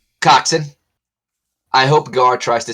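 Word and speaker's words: coxswain: the first time our Cox Swain Wow first we had Lizzy big tits now we've got a Cox Swain this is getting weird pronounced coxon oh sorry yeah coxen I hope gar tries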